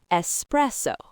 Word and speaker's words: espresso: Key number two, it has three syllables and the stress is on the middle one. Espresso. And key number three, remember the Italian origin. It means pressed out coffee, which will help you remember it's about pressing, not expressing.